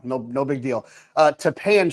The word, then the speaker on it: Tappan: Tappan Street, pronounced like Japan, which I've found out.